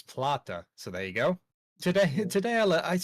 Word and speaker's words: Plata: And do you think the Lamborghini could also be, Have I been pronouncing that wrong? I don't know. Well, Jesse has actually corrected us. It's Plata.